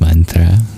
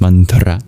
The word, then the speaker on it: mantra: Dear Ana, you're never going to pronounce mantra and chakra the same after today. It It's also more satisfying that way. I think colloquially it's called the crispy R and I love that. It's crispy.